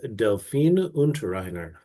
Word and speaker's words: Delphine Unterreiner: And my accountability partner and just partner in believing is Delphine Unterreiner from France. And have I completely butchered your name again?